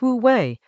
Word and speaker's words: wú wéi: In Chinese, wu wei, pronounced wu wei, literally non-doing or non-forcing.